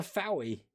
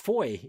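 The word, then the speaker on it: Fowey: Have you fallen into the Fowie pronunciation? It's pronounced Foy in Cornwall.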